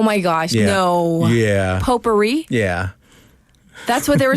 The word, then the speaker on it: potpourri: By the way, that's POTPOURRI, potpourri. And Yeah. that's one word. Yeah. And the T is silent.